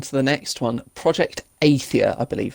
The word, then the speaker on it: Athia: Project Athia, I believe it's pronounced.